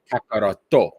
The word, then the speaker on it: Kakarot: in the Japanese version, Goku's singing name, Kakarot, is pronounced and spelled Kakaroto. So the to at the end of Vegito comes from Kakaroto. However, in the English version, they do not pronounce it as Kakaroto.